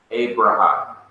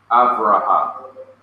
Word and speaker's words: Avraham: We pronounce it in English, Abraham. They say Avraham.